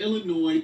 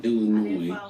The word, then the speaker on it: Illinois: that she's not in Illinois anymore. Illinois. I'm going to pronounce it. Y'all take the S off when you want me to pronounce it.